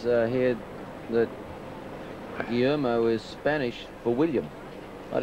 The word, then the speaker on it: Guillermo: And he worked it out how I could pronounce Guillermo correctly. And the first time I tried it, I stumbled over it. Guillermo. Guillermo. Guillermo Vilas.